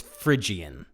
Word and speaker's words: Phrygian: it right but he's i think he said phrygian but it's phrygian the phrygian mode um